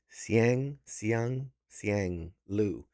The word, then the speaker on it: Siang Lu: I want to make sure I pronounce it correctly. Siang Lu.